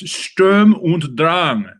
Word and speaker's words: Sturm und Drang: In honor of our vast German population of viewers, whom I adore, it's Sturm und Drang. Sturm und Drang. Storm and strife. I'll press a button and have your pronunciation.